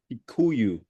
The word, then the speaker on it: Kikuyu: realized that man certain things are hard to pronounce, but I took notes. You said Meu and Kiku, right? Kikuyu Kikuyu.